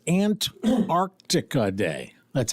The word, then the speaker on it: Antarctica: Antarctica day somewhere there's got to be a district court judge who can take care of that for us perhaps. Yeah. And it's Ant Arctica Day.